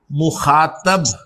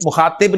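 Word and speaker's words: مخاطب: Second person pronouns को अरबी में, फारसी में और उर्दू में हाजिर या मुखातब मुखातब कहा जाता है। ठीक है? मुखातिब नहीं मुखातब फर्क फैसला और लाहौर का है।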